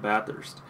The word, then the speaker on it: Bathurst: until I actually try, and I'm talking about Bathurst. That's how you pronounce it.